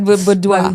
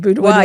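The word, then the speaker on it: boudoir: Budoa. Budoa.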